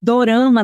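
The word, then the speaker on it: ドラマ: curiosidade só para acrescentar é que Dorama na verdade é a pronúncia de drama no Japão Dorama na Coreia tirama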